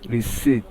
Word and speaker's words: receipt: And the given word here by transcription is pronounced as receipt. Receipt. So the P is silent and it is two